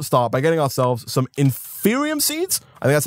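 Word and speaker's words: Inferium: need to first start by getting ourselves some inferior seeds and that's how it's pronounced these guys right here and there were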